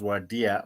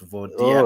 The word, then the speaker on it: Vodia: Oh, that is Vodia for you, or some pronounce it as Wadia, but it's Vodia.